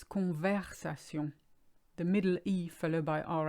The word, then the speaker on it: conversation: verb convex aciem that's one of the most butchered ones I hear it's not converse aciem it's conversation the middle Eve alibi our ice is an